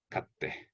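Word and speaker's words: 買って: Kao. Kate. Katte. So it's a hard T.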